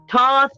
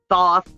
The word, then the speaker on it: Thoth: are getting toss illumination toss or thoth however you want to pronounce it if you're not big